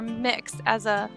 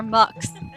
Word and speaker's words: Mx: So it's pronounced either mix or mux.